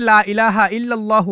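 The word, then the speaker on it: لا إله إلا الله: বলেছেন লা ইলাহা ইল্লাল্লাহু অনেকেই লা ইলাহা ইল্লাল্লাহু বলে ভুল উচ্চারণ সঠিক উচ্চারণ হচ্ছে লা ইলাহা ইল্লাল্লাহু ইল্লাল্লাহু লা ইলাহা ইল্লাল্লাহু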